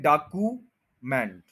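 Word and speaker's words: document: unpopular, unpopular, unpopular, next भी वही problem है, हम कहते हैं डॉक्यूमेंट, डॉक्यूमेंट, डाकू, ऊ बोल रहे हैं, ये ऊ नहीं है, यू है, यू, सब में यही तकरीबन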